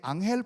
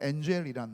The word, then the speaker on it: 앙헬: 그 옆에 있는 폭포는 저는 가보진 못했는데 꼭 가보고 싶었는데 베네수엘라 환경이 하도 어려워서, 이게 앙헬 폭포입니다. 영어 발음으로는 엔젤이란 말이에요.